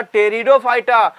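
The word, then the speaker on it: Pteridophyta: देखो, एक होता है थैलोफाइटा, एक ब्रायोफाइटा, एक हमारा टेरिडोफाइटा। पी साइलेंट होता है, पी को नहीं पढ़ने का, बाकी सबको पढ़ने का, लिखने का पूरा इस तरीके से, समझा।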